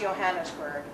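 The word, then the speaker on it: Johannisberg: J is pronounced like a Y. Think of Jarlsberg cheese. So it's Schloss Johannesburg.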